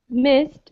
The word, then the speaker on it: missed: Whereas missed is pronounced like a T sound.